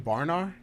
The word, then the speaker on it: Branagh: Branagh.